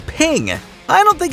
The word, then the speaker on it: PNG: the presidential motorcade passed the creator of the PNG image file format wanted it to be pronounced as ping I don't think it's